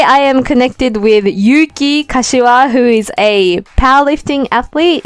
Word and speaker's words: Kashima: It's Kashima.